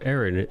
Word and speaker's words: Eren: Eren, is that how you say his name? Eren, yeah. Eren.